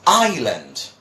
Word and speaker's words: island: exactly the same, because most people say Iceland when they read this. They say Iceland, but that is not the pronunciation. The pronunciation would be like this. Then people would be surprised, but we don't pronounce the S there. So what we say is island, an island, no S.